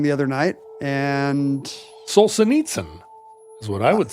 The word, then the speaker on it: Solzhenitsyn: We had 3 people say Solzhenitsyn wrong the other night, and Solzhenitsyn is what I would say.